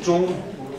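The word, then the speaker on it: 中: Il se prononce Zhong, mais à la limite on s'en fiche.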